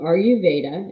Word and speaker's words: Ayurveda: So Ayurveda is how you say it.